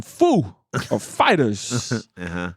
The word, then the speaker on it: Foo Fighters: goes in your name who's the emphasis on Foo Fighters and Dave Grohl goes oh my god he has no clue he goes he goes oh the emphasis is on fighters he's like you got